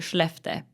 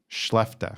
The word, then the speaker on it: Skellefteå: Tell us about your hometown, starting with how to pronounce it. I'm not even going to attempt to completely butcher this one. We say Skellefteå. Skellefteå.